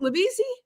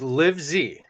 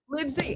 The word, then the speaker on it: Livezey: There's Is it LeBriezy? Uh it's pronounced like Liv-zee. Liv-zee.